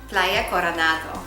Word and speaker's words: Playa Coronado: We're at your beautiful place in, and I'm going to say it wrong, Playa Coronado? Playa Coronado.